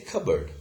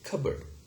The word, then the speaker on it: cupboard: We say cupboard. We do not pronounce this p sound here. We say cupboard, okay? Fine. And it's a permanent loss, okay? So we say psychology and cupboard.